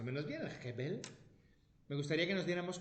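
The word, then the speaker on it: הבל: Y es de lo poquito de hebreo que pronuncio más o menos bien, el Hebel.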